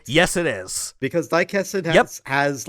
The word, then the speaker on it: Daikessen: Because Daikessen has like special FMVs or cutscenes that are directed shot for shot taken from the original manga.